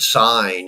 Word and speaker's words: sign: when you realize that the g is silent in the word sign and it would make